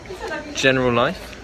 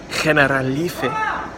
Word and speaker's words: Generalife: into this place called General Life. I was just speaking to some Spanish girls and they informed me that it's actually pronounced Generalife.